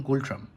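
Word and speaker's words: Ngultrum: authority of Bhutan one গোল্ড ট্রাম্প এন কিন্তু silent থাকে এখানে যাই হোক সো নেক্সট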